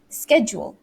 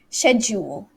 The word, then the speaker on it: schedule: way of saying it i say schedule which is the american way but the british way is schedule schedule but i don't